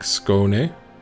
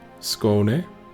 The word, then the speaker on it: Skåne: So it's 2-syllable word, so it's like Skåne. Skåne.